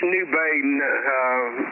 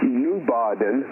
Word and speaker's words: New Baden: So it's supposed to be actually pronounced New Baden because you have names like Hearn, Kossi, Marquet, Bremont, and a bunch of German names.